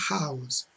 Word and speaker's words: house: Então você usa o N e com o H que é pronunciado, você usa normal, a house.